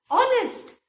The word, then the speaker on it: honest: ऑनेस्ट, ऑनेस्ट vowel का sound आ रहा है, कहीं भी कॉन्सोनेंट का साउंड नहीं आ रहा है.